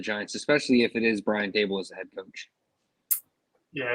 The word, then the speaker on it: Daboll: I assume Daboll's got to be the odds-on favorite right now for this job, or Brian Daboll, I think is the correct pronunciation.